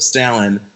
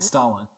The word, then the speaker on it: Stalin: well first of all you're saying the last name wrong so I'm confused I thought it was like someone was doing a play on the word what wait what's it's Joseph Stalin Stalin Stalin it's Stalin oh well it's n